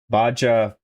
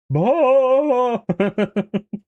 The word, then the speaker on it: Baja: Baja, Baja. Baja, like Hank Hill saying, Baja!